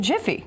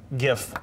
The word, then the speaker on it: GIF: I say JIF, but I know it's GIF because it stands for Graphics Interchange Format. Right. And it should be pronounced with that hard G, not a soft one. Yeah. However, the original creators say GIF should be a soft G.